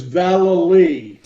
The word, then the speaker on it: Vallely: It's Vallely. Vallely, okay. Vallely. Those L's in there get very confusing, Sharon, so I can understand.